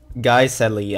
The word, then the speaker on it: Guiseley: I was right all along. It's pronounced Guiseley.